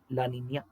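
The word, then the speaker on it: La Niña: ಯಾನೋಸ್ ಆಯ್ತಾ ಹಂಗೆ ಸ್ಪಾನಿಷ್ ಪದಗಳಿದೆ ಸ್ನೇಹಿತರೆ ಎಲ್ ನಿನ್ಯೋ ಲಾನಿನ್ಯ ಎಲ್ ನಿನ್ಯೋ ಅದನ್ನು ಹೇಳ್ತೀನಿ ನಾನು ನಿಮಗೆ ಎಲ್ ನಿನ್ಯೋ ನೋಡಿ ಆ ಪದಗಳ ಉಚ್ಚಾರಣೆನೇ ಗೊತ್ತಿಲ್ಲ ಎಷ್ಟೊಂದು ಜನಕ್ಕೆ ಎಲ್ಲಾ ಎಲ್ಲಿನೋ ಅಂತಾರೆ ಎಲ್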